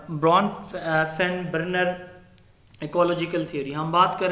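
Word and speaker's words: Bronfenbrenner: सर इसकी सही pronunciation जो है ना वो ब्रून फीन बर्नर है। ब्रॉनफिन ब्रॉन नहीं बर्नर।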